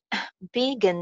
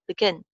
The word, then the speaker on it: begin: Right, begin nahi bolenge, begin. Yes, ma'am. Begin. Ye ek verb hai na, to verb aur jo action words hote hai na, agar wo two syllable hon, to unke second syllable ko hi stress kiya jata hai, not first one. It's not begin. Begin.